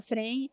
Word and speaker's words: Fregni: Frene. Uhum. No Instagram também dá para procurar como Fregni, né? Se escreve Fregni, se fala Frene.